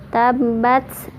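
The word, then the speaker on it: تبّت: Di ayat pertama, tabbat, di atas ba ada tasydid, berarti bacanya ditekan.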